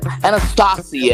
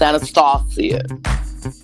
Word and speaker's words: Anastasia: Anastasia, actually. It's supposed to be pronounced with some regalness. It's Anastasia.